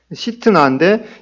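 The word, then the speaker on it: 싯나: 그래서 정확하게 이 발음하면은 신나라기보다는 시트나인데, 이 시트나라는 이 네 번째 우물이 바로 시트나 대적의 우물로 불렀습니다.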